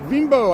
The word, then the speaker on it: Bimbo: Bimbo, I gotta say it right.